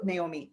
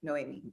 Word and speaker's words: Noemie: That Naomi, have you always been, Noemie, I said it wrong.